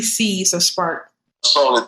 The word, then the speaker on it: SparkC: So if you really say it, you're going to be saying Spark. You know what I mean? If you wanted to be that technical with it. But the company is called Spark, and it's spelled with a capital C on the end.